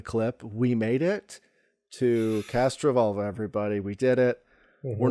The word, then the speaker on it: Castrovalva: we made it to cast Revol everybody we did it we're not pronouncing it wrong we're pronouncing it how they say it in the show over and over again they're here cashola yep